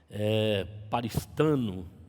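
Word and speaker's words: παριστάνω: Essa palavra, amado, no grego, paristano é a pronúncia dela, ela coloca a ideia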